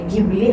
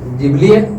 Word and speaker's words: Ghibli: केल पाहिजे अस नाही दोन्ही शब्द योग्यच आहे पण हा काय फक्त प्रोनन्सशनचा फरक आहे कशा जिबली हा मूळ शब्द आहे गिबली तर गिबली म्हणजे